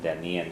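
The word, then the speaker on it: dtaitníonn: And Denian, you don't pronounce the T, but it's missing from the word an A. It should be D-T-A-I-T-N-A-I Fada O-N-N. And Denian Shalat.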